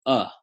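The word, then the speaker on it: अ: just Sanskrit and it's this vowel up which we might you know phonetically write as you H for English speakers only you H it's it's the simplest sound ever it's kind of like a schwa sound what English calls a schwa sound it's just uh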